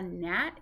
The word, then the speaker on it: gnat: here's a tricky one the g is silent so you pronounce the n n at n a gnat is kind of like